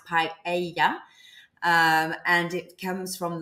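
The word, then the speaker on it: paella: so P the paa is actually from here pronounced paa um and it comes from the the local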